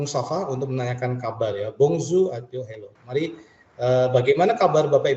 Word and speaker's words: bonjour: ini kalau diterjemahkan adalah bongzho itu Hello ya Jadi bukan bacanya Bonjour atau Bonjour ya tapi bungsu seperti ini j nya itu seperti mengucapkan huruf z jadi airnya konsonan di belakang tidak terbaca Bapak Ibu artinya Hello